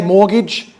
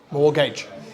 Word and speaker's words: mortgage: loan a loan for home can everybody say mortgage mortgage is the tea silent yes the tea is silent all right uh mortgage mortgage all right what does fixed rate loan